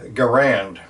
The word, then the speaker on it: Garand: a Canadian American and everybody pronounces the rifle Garand it just kind of took off and that's what